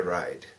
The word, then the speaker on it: ride: R 발음이 더 굴르게 해야 됩니다. Can I get a ride? Can I get a ride? 예, 그 R 발음이 굴리면 약간 입을 아, U 발음을 약간 넣어서 그 준비 단계를 만들어야만 R 발음이 제대로 나죠.